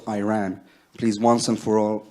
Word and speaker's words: Iran: a country's name wrong our country is named Iran not Iran please once and for